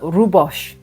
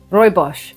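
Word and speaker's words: Rooibos: On the rhubos, Royos, sorry. Royos tea. There you go for my Dutch and South African friends. I didn't forget I pronounced it right now.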